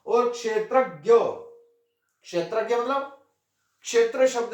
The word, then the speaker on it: क्षेत्रज्ञ: अव्ययः, अव्यय, अर्थात् अव्ययः, अव्यय पुरूषः साक्षी क्षेत्रज्ञ एव च। यहां 'ज्ञा' का सही उच्चारण वास्तव में 'जा' है। सामान्य प्रयोग के कारण, हम क्षत्रज्ञ में 'ज' के स्थान पर 'ग्या' का उच्चारण करते हैं।